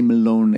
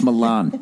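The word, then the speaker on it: melone: thing that they do don't ever say Malone again it's Milan say it like an American Milan is that Milan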